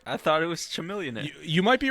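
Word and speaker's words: Chamillionaire: All right, I thought it was Chameleonaire. You might be right, because like the more you say it, it's pronounced Chameleonaire.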